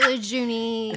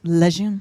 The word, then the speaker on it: Lejeune: Is Lejeune. Some people say Lejeune. No, it's Lejeune.